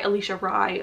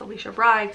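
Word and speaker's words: Alisha Rai: it this is by Alicia Rye I mispronounced her name before it's Alicia Brides I'm doing the audiobook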